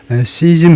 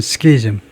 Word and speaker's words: schism: The schism이 아니고 키즘이라고 그러네요. 발음을 찾았는데 이런 분열인데 이거 발음을 좀 더 확인을 해보겠습니다. 이게 발음을 확인할 때는 아직은 구글이 좀 낫고요. meaning 하면 이제 발음이 나오는데 발음이 좀 확대해서 보면요. 시즘 해도 되네요. 시즘 해도 되고 스키즘 해도 되고 시즘 또는 스키즘, split, 디비전이라면 split, rift, breach, rupture, 분열, 균열. 이게 스키즘, 스키즘이라고 할까요?